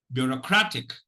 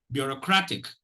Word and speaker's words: bureaucratic: Bureaucratic. Bureaucratic. Actually, there is a secondary stress, but let me, share that with you.